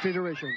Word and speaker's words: Federation: Quant à Federation, eh bien c'est la fédération, à la fin vous prononcez Shun. Presque comme un S-H ou C-H-E-I-N. Shun, Federation.